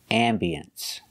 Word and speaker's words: ambiance: had a very nice ambiancee that's right you cannot say I'm Beyonce you can say ambiance or ambience it has two pronunciations